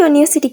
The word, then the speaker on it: university: හැබැයි මම දැන් යුනිවර්සිටි කියලා වචනයක් ඔයාලට කියනවා.